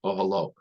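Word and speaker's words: אהלה: So it's spelled with a hey at the end, but the Baal Koreh knows to pronounce it ahalo.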